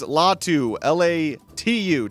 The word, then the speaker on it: Laiatu Latu: we're looking at today is UCLA edge rusher Laiatu Latu, I think is how you say it. That's better than I did, that's for sure. The keyword is Latu, Latu.